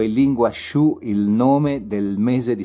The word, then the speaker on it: Sioux: Sioux in realtà si scrive Sioux, ma si legge Sioux, sarebbe in realtà una contrazione del nome che i nemici davano a questo popolo.